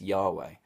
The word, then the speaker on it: Yahweh: am the I am the way that we pronounce it today is Yahweh and then Jesus Takes